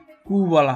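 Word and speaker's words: Quelle: এবং উইটা একসাথে থাকলে কু এবং উইটা একসাথে থাকলে হচ্ছে ক এবং বাংলা ক এবং ব এরকম সাউন্ড হয়।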